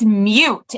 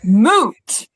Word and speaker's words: moot: and her now ex-husband across the table from me goes, "That's not how you say it." And I was like, "I I know." And he was like, "It's mute." And I was like, "Actually, it's moot."